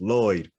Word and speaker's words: Floyd: says no no my my boss's name is floyd it's pronounced lloyd and the guy just